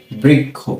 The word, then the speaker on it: বৃক্ষ: এই ব লিখে এর নিচে যদি আমরা ঋকার দিয়ে দিই তাহলে এর উচ্চারণটা হবে কি? বৃকার বৃ। বরিকার ব্রি।